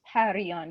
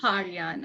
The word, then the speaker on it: Parian: And about about my name pronunciation, it's Parian. Yes, it is. Parian.